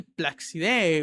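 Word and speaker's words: Placide: En el arco, el Placidé, si no, creo que así se pronuncia, ¿no? Sí, Placidé o con un acento más francés, creo yo.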